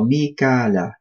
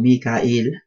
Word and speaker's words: Mikail: Wa jibreela, we have spoken about him in the previous ayah, wa mikala. So it can be pronounced mikal or mikail. They're all correct.